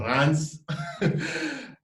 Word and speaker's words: Reims: It's called Reims, but it's pronounced Reims.